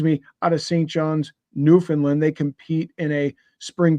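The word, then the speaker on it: Newfoundland: to hear it and it's pronounced New Finland um my buddy uh my buddies are newfies uh in the K military uh know playing hockey you know it's New Finland uh you know so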